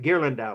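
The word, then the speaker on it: Ghirlandaio: okay so you got gear lindau was his name it's how you say it in italian okay let's wrap up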